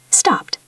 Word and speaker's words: stopped: If the word ends in a voiceless sound like P, K, F, S, CH, or SH, we pronounce ed as a T sound.